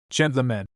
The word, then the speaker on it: gentlemen: In gentlemen, for example, the e is according to the dictionary an obscure vowel and the word is pronounced almost as gentlemen. Not gentle underscore underscore. Of course, but not gentle underscore underscore n.